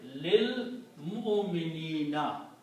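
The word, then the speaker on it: لِلْمُؤْمِنِينَ: So the word will become, do not pronounce this alif, lil mu'minina, for the believers.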